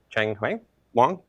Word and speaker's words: Cheng Wang: This is a series put on by Cheng Wang.